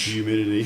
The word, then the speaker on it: humidity: it with an H you pronounce the h humidity H I was just